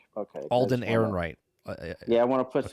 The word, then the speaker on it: Alden Ehrenreich: Alden Ehrenreich. Okay. Alden Ehrenreich.